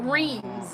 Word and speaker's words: Reims: Or Reims, as we say. Reims. One of the hardest words We're to in pronounce.